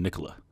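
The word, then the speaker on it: Nikola Jokić: top to any soup it's Nicol yic because he seeps you're going Nicol yic I like that it's interesting a lot of people go Nia on that oh saying it wrong you're going Nicola that's how how we on the streets of Latvia think he's even from that's how we say it try um he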